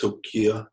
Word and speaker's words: Hilkiah: and the King commander he'll Khayyam it's actually pronounced Hilkiah because it's re here on the high priests